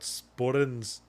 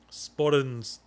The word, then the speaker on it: sporran: See, if you say sporran in my normal accent, you pronounce the R with my tongue down, sporran. Yeah. If I pronounce it in my Scottish accent, my tongue actually briefly touches the roof of my mouth.